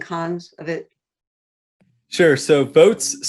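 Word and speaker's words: Voatz: the pros and cons of it sure so votes spelled with a z um so votes is a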